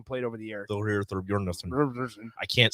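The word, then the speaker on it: Thorbjarnarson: Thorbjarnarsson.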